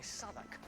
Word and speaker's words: Southwark: We're just down the river by Southwark. Right next to. Oh, it's pronounced Southwark. I've been calling it Southwark for years.